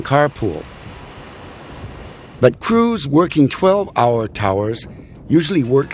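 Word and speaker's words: tours: rig workers call shifts Towers it's spelled t o uur but for some unknown reason it's pronounced like Tower t o w r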